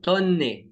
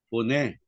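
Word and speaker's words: φωνή: Tonne. Tama po ba, Brad? Tonne. Tonne e. Hindi. A voice. Ganyan eh, fee. Fee yan, fee. Omega, fo. Fone. Oh, fone pala yun.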